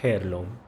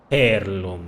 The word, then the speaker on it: heirloom: What is this about an heirloom? Just Wait, you don't say it like heirloom, right? H is probably silent, right? An heir, like an heirloom.